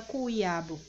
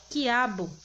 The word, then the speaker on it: quiabo: a função de dígrafo porque você não não pronuncia cue abu você pronuncia diretamente quiabo sabendo que tem a presença de duas letras mas você só pronuncia uma né esse é o